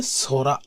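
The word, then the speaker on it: 空: তো এটা হচ্ছে সরা, আকাশের কাঞ্জি, স্কাই এর কাঞ্জি। তো এটার উচ্চারণ হচ্ছে সোরা।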